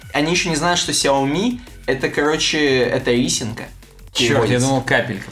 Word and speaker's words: Xiaomi: которые топят за xia они во-первых не знают что ударение на последний слог Да они не знают